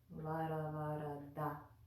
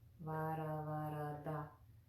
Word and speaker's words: Varavarada: Put that tongue at the front teeth and then draw it back. Varavarada, Varavarada, Varavarada.